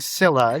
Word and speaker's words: Scylla: No, we're going to say Sila today, you know, and they're the classic rock in a hard place.